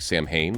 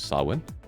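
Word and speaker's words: Samhain: will now become the season of sawin uh which is spelled like Sam Hayne which everybody says the wrong way it is sawin um Sam ha yes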